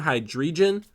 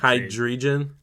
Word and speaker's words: Hydreigon: I'm assuming I say it wrong every single time, but it's just hide the like H2O, like hydrogen, like that. So it's hide and then region, so hydrogen. Or, wow, I can't Hydreigon? Hydreigon.